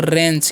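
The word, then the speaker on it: wrench: पढ़ते हैं हम लोग रेंज क्या पढ़ते हैं रेंज और इसे पढ़ते हैं रंग ठीक है यहां पर सब में डब्लू साइलेंट है इसे हम पढ़ते हैं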